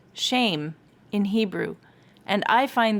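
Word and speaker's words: שם: the root hebrew word for that phrase is pronounced shame in hebrew and i find that kind of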